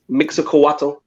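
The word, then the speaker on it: Mixcoatl: The mask is based off of, I'm going to try and pronounce this, Mixacoatl.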